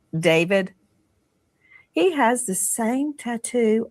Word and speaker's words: d4vd: Some people look at his name and it looks it looks like D4 VD and he pronounces it David.